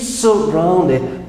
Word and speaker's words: surrounded: It's surrounded. Be careful with the pronunciation of this word. Is surrounded. Right? You pronounce ow.